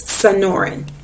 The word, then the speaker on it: Sonoran: you can look that it's supposed to be pronounced so it's sonoran in non-fiction text we might also see captions